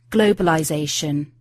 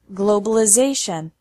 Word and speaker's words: globalization: in the noun form globalization and American English changes the sound of the letter I globalization finally the t's sound